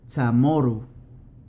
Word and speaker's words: Chamoru: Si la palabra termina en O, la pronunciación correcta es U, casi siempre. Algo como se tratan las O finales en el portugués por muchos brasileños. Chamoru, quanto, matsu.